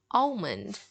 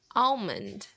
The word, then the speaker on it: almond: word right here almond in many parts of the US they will pronounce the L in it so if you go